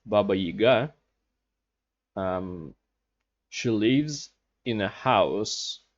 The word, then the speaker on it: Baba Yaga: it or not also baba yaga or as in in russians pronounced baba yiga she lives in a